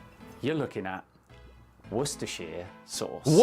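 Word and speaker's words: Worcestershire: You're looking at worershir sauce.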